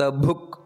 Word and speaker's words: ಭುಕ್: ನಾವು ಗಮನ ಇಟ್ಟು ಹೇಳಬೇಕಾದದ್ದು ನೋಡಿ ಅನಂತೋಹುತ ಭುಕ್ ಅಲ್ಲಿ ಭುಕ್ ಅನ್ನುವಂತದ್ದು ಮಹಾಪ್ರಾಣ ಭೂ ಅದೇ ರೀತಿ ಭೋಕ್ತ ಅನ್ನುವುದು